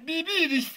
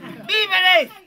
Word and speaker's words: víveres: Viviris. Viviris, motoso, serrano. Aprende a pronunciar el castellano bien. Viviris. Así no se dice. Entonces, mamacita, ¿cómo se dice? Víveres.